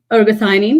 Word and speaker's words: ergothioneine: something called ergo theanine am i pronouncing that right ergothioneine ergothionene yes ionine uh and this is an